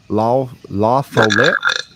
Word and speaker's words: La Follette: La Follette.